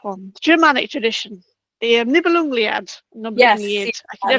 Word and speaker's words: Nibelungenlied: The Germanic one, the Germanic tradition, the Nibelungliad, Yes, Nibelungliad. I can yeah, never the pronounce that one. Nibelungenlied.